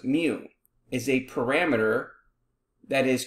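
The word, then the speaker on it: μ: population arithmetic mean which we have a symbol pronounced mu is a parameter that is computed using data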